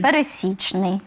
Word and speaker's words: пересічний: нас існує Здається так а він пересічний чи пересічний він пересічний пересічний от наголос на пересічний на третій склад От і загалом з